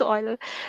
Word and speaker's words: Euler: for some escapees okay so Euler identity is pronounced oil okay I honestly I